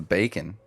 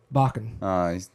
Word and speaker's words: Bakken: I thought it was Bacon. Bakken. I've been saying it wrong this whole time.